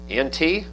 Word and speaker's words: ante: Ante? Okay. So we'll call it ante, and if I slip up, you just have to forgive me. Ante means before, post means after.